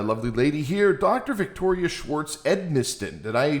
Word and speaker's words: Schwartz-Edmisten: Victoria Schwartz-Edmisten. Did I pronounce all of that correctly?